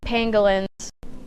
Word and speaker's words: pangolin: We're talking about dogs rescuing pangolins. how do you pronounce it?